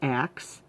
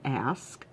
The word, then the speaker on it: ask: or whatever I despise when people say acts instead of ask I despise when people